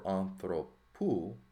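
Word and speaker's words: ἀνθρώπου: So to maintain the proper feel for anthropou, that accent is going to come back here, okay, to the second to last syllable, but really it's within that 3rd more, right?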